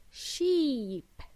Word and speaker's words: sheep: The next word, sheep. Repeat after me. Sheep. Sh is pronounced like a soft sh, not ch, like Chile.